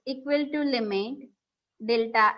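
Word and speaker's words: ∂: Del u by del x. This is what the pronunciation is, del u.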